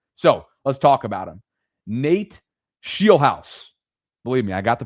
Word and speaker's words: Scheelhaase: Nate Scheelhaase. Believe me, I got the pronunciation right, Sarah.